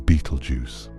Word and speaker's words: Betelgeuse: Its name, as most people pronounce it today, is Beetlejuice.